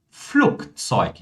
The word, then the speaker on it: Flugzeug: Algo similar acontece com o G, pessoal. Ou seja, o G no final de palavras, tá? Ele vai ser pronunciado como K. Olha só. Tak. Zug, Flugzeug.